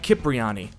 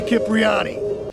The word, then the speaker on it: Cipriani: He pronounces his name Cipriani. Nobody, I mean nobody, messes with Tony Cipriani.